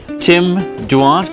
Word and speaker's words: Duarte: Tim Duarte, good to see you, sir. Is that how you pronounce it? Yeah, Duarte with a silent E.